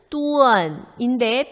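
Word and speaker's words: duan: 자, 다음 DUEN 발음은 뚜언인데 표기는 어떻게 해야 한다? 가운데 이를 생략하겠죠?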